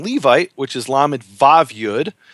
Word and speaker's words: Levi: today, he'll pronounce it Lewi. But if you ask pretty much any other Jew in the world, whether he's from Morocco or Algeria or Ashkenazic Jew, they'll all say it's Levi with a V.